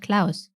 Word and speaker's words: Klaus: think in the show they actually actually didn't pronounce his name claws but Klaus oh oh no no